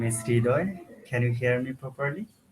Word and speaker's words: Hridoy: Hi, my name is Hridoy.